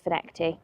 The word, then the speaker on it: Findochty: It's spelt Findochty. However, Kieran tells me it's Fineckty, so if he's telling me lies, ignore that and call it Findochty.